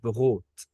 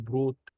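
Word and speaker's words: Brot: الحرف الار هنا لو بعديه حرف متحرك يفضل ان انا انطقه اغ، زي كلمة بغوت، بغوت. طب يا هير، تمام. لو انا نطقته بروت 100% صح. ازاي بقى؟ يعني الاتنين صح، الاتنين صح.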